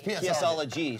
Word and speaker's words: PSology: It's PSology. So yes, I am a PSologist. Like psychologist. What? The PS is pronounced like an S.